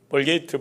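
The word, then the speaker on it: Vulgate: 이렇게 제롬에 의해서 라틴어로 번역된 성경을 불가타 성경이라는데, 영어식 그 발음으로 벌게이트 버전이라, 벌게이트 역이라 그렇게 우리는 알고 있습니다.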